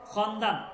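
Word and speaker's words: خواندن: ওকে দেখেন একটা টেক্সট করবো আমরা ছোট টেক্সট ঠিক আছে খন্দান খন্দান এখানে ওয়াওটা উচ্চারণ হবে না খন্দান।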